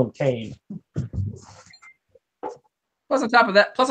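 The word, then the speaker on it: Billy Kane: Billy Caine's name is Billy Conn no I refuse Billy Conn they're like but it's pronounced like the actor James Caan well then why isn't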